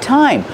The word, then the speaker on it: thyme: we have this one it's pronounced thyme that's right time like what time is it the pronunciation is time use the real T sound and this is pronounced